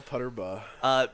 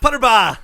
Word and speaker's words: Putterbaugh: How do you spell Putterbaugh? Putterbaugh. Putterbaugh. That's not how I thought the way you pronounce it. I thought it was Putterbaa.